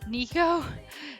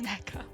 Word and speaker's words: Neko: this username I'd use I pronounced it Nico so I still read Neko is Nico knowing full while it's NECA fair enough you know